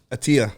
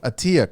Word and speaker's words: Attia: We got, how do you pronounce the last name? Attia. Attia.